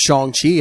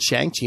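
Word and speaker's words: Shang-Chi: good especially you know i learned that it's pronounced chong chi i saw i pronounced it chiang chi my whole life um did they kind of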